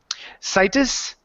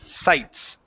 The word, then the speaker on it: sites: they sounded like this: situs and accountants. You're adding vowels in there. Okay, so with words like sites, remember that E at the very end is silent. So instead of situs, it's sites.